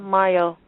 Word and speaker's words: Mayo: a h and then my last name like cinco de mayo m-a-y-o um that's my